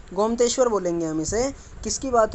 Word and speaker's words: गोमतेश्वर: गोमतेश्वर बोलेंगे हम इसे। किसकी बात हो रही है एक बार और देख लेते हैं, प्रोनाउंसिएशन में थोड़ी दिक्कत है इसमें।